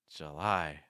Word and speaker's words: July: breath I lie July see how weak the first syllable is there it's not July it's July August August the second